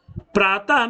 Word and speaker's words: प्रातः: इसी तरह से प्रातः में ये जो 2 बिंदु ऊपर नीचे लगे